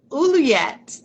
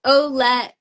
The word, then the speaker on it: Olette: I said Uluyet. So It's I, okay. oh, okay. I get it. It's just Olette, just super simple.